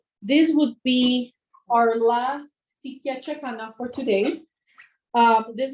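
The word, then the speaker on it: ticlla: Um, so tikia is actually spelled with a t i c double l a and that's tikka. Um, and this piece is number 98.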